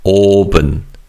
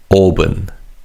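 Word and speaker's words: 오븐: Now Korean language doesn't have a consonant equivalent to the v sound. So V is pronounced as a PB which is actually more similar to the B sound in English.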